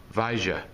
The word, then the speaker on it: vaya: Alright, some places you might hear the Y pronounced as the Y sound, the ya. Alright, in other cultures you might hear them say more like a J sound, like vaja. Alright, just know it's talking about the same thing, still talking about go. Alright, it's just how they pronounce the word.